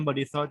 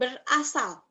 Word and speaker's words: berasal: Narikan berisal dari Thailand. Berasal. Let me correct your pronunciation. Berasal. Berasal. Yes.